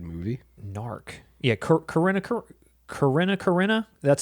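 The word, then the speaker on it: Corrina: Corina.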